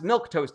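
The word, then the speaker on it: milquetoast: Mia's LV adventures says, "How do you pronounce milk toast again?" It is pronounced exactly how you are spelling it, Mia.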